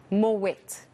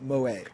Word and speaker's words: Moët: that's it and yes you do pronunciate the tea more wet from dutch heritage so that tea is